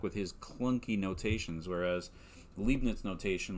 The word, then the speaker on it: Leibniz: newton and uh gottfried leipnitz and i think it's actually pronounced leibniz now that i think about it but anyway uh newton